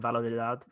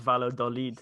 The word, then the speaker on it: Valladolid: I think it's Valladolid, not Valladolid.